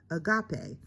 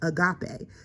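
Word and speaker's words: ἀγάπη: And the word is pronounced agape. So this word right here is agape.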